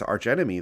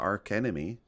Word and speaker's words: archenemy: like I said rather its archenemy though it's not arc enemy I think yeah I